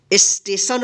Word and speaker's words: स्टेशन: के बाद साथ जो है ना ए का उच्चारण होगा स्थान ठीक स एन इसको सेशन नहीं पढ़ेंगे क्या पढ़ेंगे स्टेशन पढ़ेंगे क्यों यहां पर आधा दांत 100 है